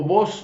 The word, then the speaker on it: Boss: prefiere un hugo boss cuando digo vos no es que es usted vos es la marca hugo boss así lo pronuncian los que hicieron es